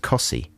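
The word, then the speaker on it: Costessey: very near wymandum that's spelt costessi and it's pronounced cossi so you can really get a lot of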